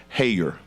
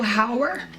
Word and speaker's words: Howard: we have Miss Hayer I hope I didn't mispronounce your last name good evening everyone it is Howard but don't worry I'm used to it being pronounced um so I am